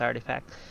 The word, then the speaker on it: RTFKT: This one is from the Wall Street Journal, and they say there that Nike acquire RTFKT, which is artifact, pronounced artifact, and it's supposed to be a startup that creates NFTs of sneakers and other collectibles.